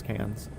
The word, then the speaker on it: Cairns: and be like, "Look, it's pronounced cans, you faggots."